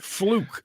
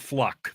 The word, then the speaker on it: Fluckiger: name cloak close flukiger flukigurs kind of weird folkieger okay wait I I was just trying to go by what I could pronounce from a fluke it's fluke instead of fluck fluke yeah oh look